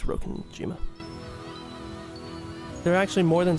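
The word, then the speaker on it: Rokkenjima: It's Rokenima. Rokenima. Rokenima or Rockenjima, but I'm assuming it's Rokenima.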